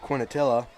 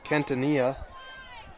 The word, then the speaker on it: Quintanilla: As we are back, and the guy I was calling Chad Quinatilla is actually pronounced Quintanilla.